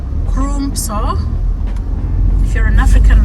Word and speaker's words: Crumpsall: There's another one called Crumpsall. It's written Crumpsal. So it sounds like it is Crumpsall. If you're an African like me, probably you will say Crumpsall.